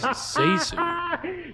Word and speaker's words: ZaSu: more It's pronounced ZaSu.